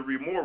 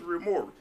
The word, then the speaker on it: Remora: question that people have what is remoral people don't even know how to pronounce it it's Remora I add the S on there just to be sexy a little bit like